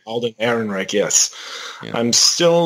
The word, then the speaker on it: Alden Ehrenreich: I'm still a little unsure of I don't know how to pronounce this. Alden Ehrenreich? Alden Ehrenreich, yes.